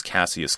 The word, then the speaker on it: Cassius: his given name was Cassius Clay. We say Cassius, where I'm from. Cassius Clay. But, you know, there are different pronunciations, yeah.